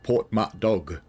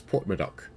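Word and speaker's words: Porthmadog: Because it's spelt Portmatdog, but it's Portmadoc.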